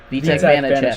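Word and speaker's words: Vítek Vaněček: Spell it for me. VITE. Vitek Vanacek, Vanacek.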